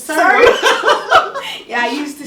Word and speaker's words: Surrey: I used to say Surrey. Yeah, I think we all did. Yeah. But the first time I had the contract, I pronounced it Surrey, and then the lady on the phone, no, it's Surrey.